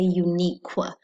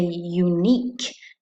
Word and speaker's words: unique: If you said unique, unique, you hear that? All we hear is the K. We don't hear qu, qu. We don't say unique, we say unique.